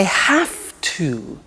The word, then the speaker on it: have to: I have to. Notice I don't say V, I say F. Have. It becomes have to. Have to becomes in pronunciation have to.